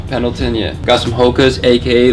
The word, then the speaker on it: Pendleton: That's how you pronounce it, right? Pendleton, yeah.